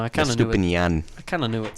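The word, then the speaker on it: Estupiñán: It is actually pronounced Purvis. Yeah, his first. Well, the full name, Purvis. Estupinian. Estupinian.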